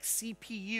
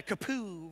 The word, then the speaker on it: CPU: Sometimes you want the letters to be spelled out like CPU. It would be odd to call it a kapoo, right?